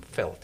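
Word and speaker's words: veld: by miles of open felt as it's called which is land or field um felt felt is an Africans word v l d um which is pronounced felt and it's used both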